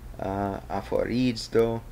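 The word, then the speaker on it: ἀφορίζω: Here's the phonetic pronunciation of it. Aphorizo would be the way you would say that.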